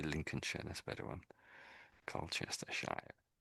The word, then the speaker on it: Lincolnshire: But all of them are pronounced with this sh sort of an ending. Although it looks like shia, everywhere you see that on the end of a name, it's always pronounced sh derby. Colchester um Colchester um Lincolnshire. I say Lincolnshire.